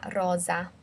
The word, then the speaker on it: rosa: the pink T-shirt Thea Rosa also notice the difference in pronunciation red is a double s so it's a soft s Mala Rosa whereas um pink is like a zed sound Lala Rosa okay remember if you